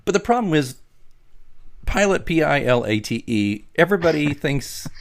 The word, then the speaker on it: Pilate: just to be helpful it's pronounced and there's a little pronunciation key pilot yeah it and i